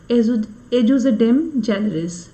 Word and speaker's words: ejusdem generis: देखिए, जब हम एजुडिज्म जेनरिस की बात करते हैं, इसको प्रोनाउंसिएशन भी ऐसे ही किया जाता है, एजुजिडेम जेनरिस।